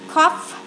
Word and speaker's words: cough: Light, way, cough. Bây giờ cough là chữ phờ này, chữ G hờ này đọc là phờ này.